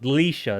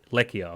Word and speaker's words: Leisha: Leisha is the name. Okay, I know it's there, but I was like trying to make sure I pronounced it correct, because I was gonna say Lekia or something like that.